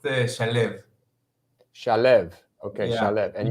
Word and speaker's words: Shalev: Yeah, it's an Israeli name, and it's pronounced Shalev.